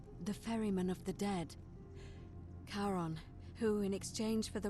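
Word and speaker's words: Charon: as you described it only your pronunciation is a little off the name you heard wasn't Karen it was c h a r o n as in Caron the ferryman of the Dead karon who in exchange for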